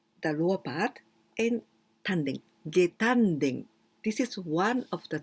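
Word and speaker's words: 下丹田: so it means the lower part, and tanden, getanden. This is one of the tanden, the most important tanden, getanden. But there are many ways to say this part. We can also pronounce shimo tanden, the same kanji, shimo tanden.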